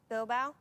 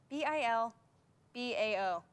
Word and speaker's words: Bilbao: um i will say new york city paris bilbao huh bilbao bilbao bilbao how do you spell that b-i-l-b-a-o bilbao bill gaboa bilboa no no